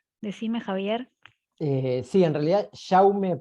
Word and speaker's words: Jaume: Sí, en realidad, Jaume I. Jaume, claro, Cuando porque es en catalán, valenciano. en catalán es Jaume, ahí está.